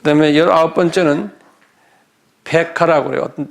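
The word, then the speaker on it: Pekah: 그 다음에 19번째는 페카라고 그래요.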